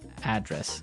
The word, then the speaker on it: address: you live yeah and there the stress is on the first syllable address right perfect very good